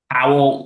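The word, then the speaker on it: Pawol: Powell.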